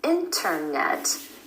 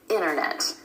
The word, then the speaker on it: internet: Vanishing T after the N sound in words like internet. So instead of internet, you'll hear a native speaker say internet.